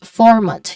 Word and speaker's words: format: for um pronunciation wise format you start with for this is the first syllable which is the stress syllable also so here um format you can also say format usually format with a clear R sound is that is American English because it's rotic and then in British